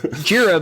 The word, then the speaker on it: Jira: it's jira because it's named after a godzilla gojira right yeah yeah yeah